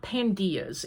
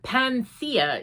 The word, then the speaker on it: Panthea: It's not Pandia's. It is actually, let me, I wrote it down in here so I didn't mess it up. Panthea is the way it kind of should be pronounced, because Panthea is a Greek goddess.